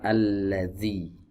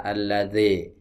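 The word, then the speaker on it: الذي: muncul gesekan tersebut ya jadi salah ya jika pelafalan huruf dzal ini dengan cara menggigit ujung lidahnya salah yang benar alladzi di gesekan baik berikutnya ada iya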